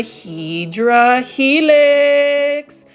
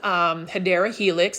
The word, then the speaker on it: Hedera Helix: For those that are new to the channel, I say Hydra Helix and correct myself to Hedera Helix because for the longest time I thought that was the way to pronounce it.